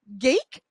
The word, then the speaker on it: Gaeke: I've got with me George Gaeke. Rhymes with cake, George tells me.